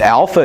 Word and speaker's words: alpha: I would say U Alpha is pronounced as the a in father okay I say father